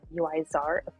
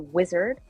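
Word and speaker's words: Uizard: uh today it's by UI Tsar well it starts I've been pronouncing it wrong it's a wizard but it's spelled u-i-z-a-r-d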